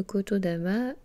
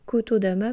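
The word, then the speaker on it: 言霊: Donc on peut dire Kotodama comme on peut dire Kotodama. Les deux prononciations sont possibles.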